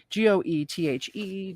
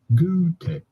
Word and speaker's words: Goethe: human writer and statesman in german his name would be pronounced something along the lines of gutei however in english it is usually said as goethe wow i was